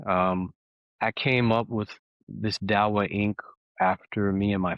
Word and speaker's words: Dawah: Dawah Dawah Ink.